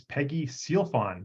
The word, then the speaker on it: Sealfon: the show description so today my guess is Peggy sealfon did I pronounce that properly yes absolutely perfect so Peggy